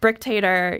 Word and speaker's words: Brick Tater: all characters I mean brick Tater you know her her name rhymes with dictator and that's who she